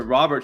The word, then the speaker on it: Robert: It's Robert.